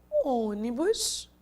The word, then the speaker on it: ônibus: Se eu disse ônibus, não é o bus, não é o ni, a sílaba tônica e sim o o. Então, não é a última, não é a penúltima, e sim a antepenúltima, que é a tônica.